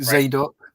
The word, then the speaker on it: Zadok: And Azar begat Sadok, or that could be Zadok. No, it is him. It is him. In the Greek, it's spelled Zadok in Greek.